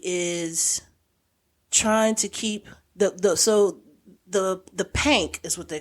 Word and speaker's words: Pynk: Oh, they're pink doors. Yeah, but it's pank. Okay. Pank. I got you. Because you got to say it like they say it.